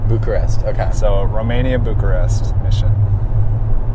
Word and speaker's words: Bucharest: opened it and it's it said romania butcher butcherus is how i pronounced it and i was like butcherist and my dad's like no it's bucharest bucharest okay so romania bucharest mission that's crazy so